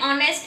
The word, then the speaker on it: honest: And an honest and hour.